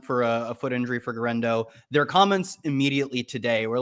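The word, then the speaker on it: Guerendo: I say Garendo. I say it as close to as it looks. Yeah, Garendo.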